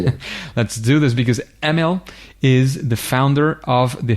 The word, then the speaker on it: Emil: Well, the Norwegian way is pretty hard for any English speaker. So it's normally Emil, but it just turns off.